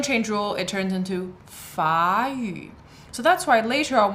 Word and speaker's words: 法语: So I don't know if you noticed there, I used a second tone for 法语, and that's because of the tone change rule.